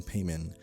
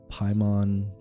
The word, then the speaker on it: Paimon: Pronunciation note right off the bat: Paimon, Paimon. The movie goes with Paimon, so I'm just going to be sticking with that for this episode.